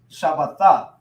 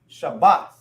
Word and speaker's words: Shabbat: Now when they join together, it's ba. It won't be but the. It won't be but the. It's now they join together, and it makes bath. Shabbat, right?